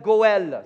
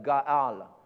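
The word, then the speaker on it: גואל: Il s'appelle Goël, c'est le mot en hébreu, Goël ou Gaal. Mais Goël, c'est un petit peu plus facile à prononcer pour moi, donc on va dire Goël. OK, tout le monde dit Goël.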